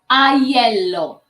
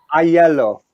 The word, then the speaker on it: Aiello: How do you pronounce it for a start? Aiello? Aiello. Aiello.